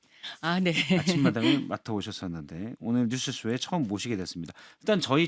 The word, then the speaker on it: 뉴스쇼: 뉴스쇼를 한 단어로 인식하셔서 아. 한꺼번에 발음해야 한다고 강박관념을 갖고 계시는 것 같거든요. 예. 근데 분석을 해 보면 뉴스와 쇼라는 두 단어가 합쳐진 거죠.